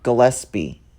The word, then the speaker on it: Gillespie: It's pronounced Gillespie.